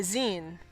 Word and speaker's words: zine: Saberlike says, I always get tripped on how to say zine. Does it rhyme with sign or Sean? Or sheen? It's like magazine.